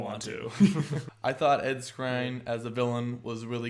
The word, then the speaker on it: Skrein: Skrein? Yeah, Skrein.